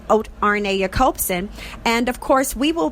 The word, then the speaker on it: Arne Jacobsen: he's from norway so um that name is pronounced rna copsen and of course we will be talking to